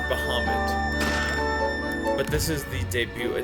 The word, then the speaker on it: Bahamut: When I was a kid, I said Bahamut, but it's Bahamut.